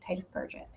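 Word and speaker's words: Tituss Burgess: Is that how you pronounce Yes. that? Titus Burgess.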